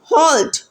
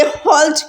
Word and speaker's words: halt: जाओ, कौन है वहाँ, हॉल्ट, हु गोज़ देयर। अच्छा, ये जो सेंटेंस नंबर 200 में जो HALT हॉल्ट लिखा हुआ है, इसे हॉल्ट करके प्रोनाउंस करेंगे, हाल्ट करके नहीं प्रोनाउंस करेंगे, ठीक है।